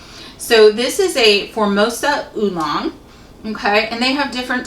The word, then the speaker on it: oolong: It's spelled O-O-L-O-N-G, oolong.